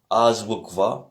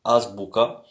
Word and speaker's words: азбука: Donc hier écouté par la suite l'enregistrement, donc j'avais dit Azbukva, puisque Bukva ça veut dire lettre, mais au fait c'est Azbuka.